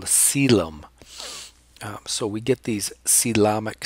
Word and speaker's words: coelom: These are called coelomic spaces. Sometimes Carlson calls them coelomic vesicles. Here's a pronunciation guide. C-lom, like Tom. Coelom, ick.